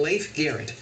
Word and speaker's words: Leif Garrett: In the 1970s, few stars shone brighter than Leif Garrett. Did I say it right? You did.